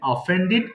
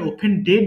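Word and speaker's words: offended: অফেন্ড অন্যায় করা অফেন অফেন্ডেড অফেন্ডেড দেখো একটা জিনিস ভুলে যাই আমরা ডি থাকলে আমরা কিন্তু ডিড উচ্চারণ করব হ্যাঁ অর্থাৎ এখানে ওপেন ডেড বলবা না সঠিক উচ্চারণ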